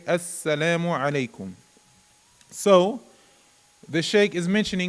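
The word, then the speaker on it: السلام عليكم: be uh doubled you we would pronounce it with a shadda and that's like all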